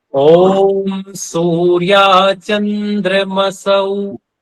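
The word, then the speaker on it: चन्द्रमसौ: है ओम सूर चंद्र मसौ सौ ठीक है यहां स पे दो मात्राएं हैं औ की तो यहां बोलना है सूर्य चंद्र मसौ धाता यथा पूर्व मकल्पत देखो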